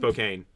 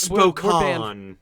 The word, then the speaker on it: Spokane: It's by Spokane. You know more about Twilight than I do. And it's also not pronounced Spokane. It's pronounced Spokane.